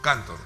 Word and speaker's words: Cantor: ¿cómo se pronuncia? Cantor, ¿verdad?